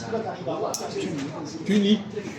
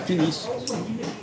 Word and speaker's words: Tunis: dit par exemple Tunis comment doit-on prononcer Tunis Tunis et pas Tunis comment c'estit-il que on